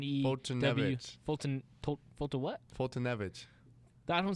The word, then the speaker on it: Foltynewicz: The WICZ makes a V. No, that's witch, not vitch. Because then you don't have the. How do you get the? It's not sound at the end. It's not American, so it's not supposed to sound like the letters.